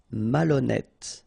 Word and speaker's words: malhonnête: Don't insist on the final E. Malhonnête. And here you get E accent circonflexe, so you pronounce it like E.